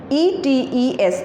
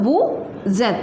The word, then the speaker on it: êtes: Along with vous, we use E-T-E-S, that is et, and this word is, we do the liaison of this word and the sound become vous êtes, that means you are.